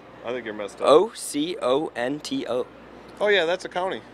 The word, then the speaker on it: Oconto: All right, Acanto.